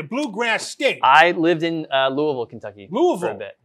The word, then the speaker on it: Louisville: No, it looks like it says Louisville, but it's actually Louisville. It's a very contentious issue. If you say Louisville or Louisville, you get called out very quickly. They say you're supposed to say it like you have a spoon in your mouth.